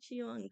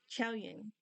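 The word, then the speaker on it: Qiaoying: About Chiyong Village.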